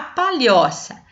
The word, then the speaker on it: palhoça: uma outra cor então qual é a sílaba mais forte da palavra palhoça palhoça qual que eu falei mais forte né também é